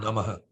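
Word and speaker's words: नमः: And then here you have Namaha. Namaha. Namaha. Right? So Namaha. Tasmai the Shri H, Gurave Namaha. yeah, the H with the dot under it is Aha. So Ah. Namaha.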